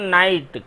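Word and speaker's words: knight: पर देखिए मेन पर नाइट के एन आई जी एस टी इसमें के साइलेंट रहता है इसको नाइट पढ़ा जाता नाइट का होता है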